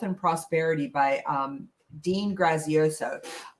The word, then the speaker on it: Graziosi: prosperity by um dean grazioso graziosi i believe you pronounce it um new york times